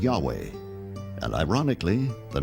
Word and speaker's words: Yahweh: because early European translators were ignorant of the correct pronunciation of Hebrew names. Many inadvertently referred to the name of God as Jehovah instead of Yahweh.